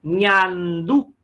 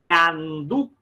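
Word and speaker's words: ñandú: bem diferente do português, chama-se ñandu, ñandu, olha aquela letra N, né, que a gente falava, que é a letra que identifica a língua espanhola, letra que esse negocinho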